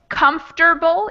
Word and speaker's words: comfortable: are comfortable actually is similar because we say comfortable even though it's spelled come fortable so kind of a trick